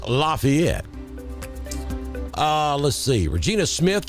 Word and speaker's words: LaFayette: jeffrey is in lafayette we pronounce it lafayette in alabama over here in georgia it is lafayette uh let's see regina